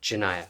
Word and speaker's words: Janiyah: Janiyah, okay, I'm pronouncing that correctly.